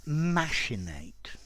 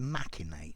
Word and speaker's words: machinate: hi there students to machinate or also to machinate both pronunciations are possible and more commonly the